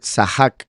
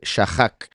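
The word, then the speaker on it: שָׂחַק: La letra Shin ahí, por poner el punto aquí, eso indica que se está pronunciando como una S, por eso dice Sahak, no dice Shahak.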